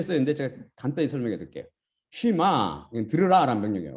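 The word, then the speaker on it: שמע: 쉬마, 들으라라는 명령이에요. 어떤 사람은 쉐마인데 쉐마 잘못된 발음인데 이거는 쉬마, 이스라엘, 들으라 이스라엘아, 야베, 아니면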